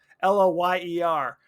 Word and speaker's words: Loyer: Shauna Lawyer, who I said lawyer. Oh, I guess that's just how you pronounce it. Loyer.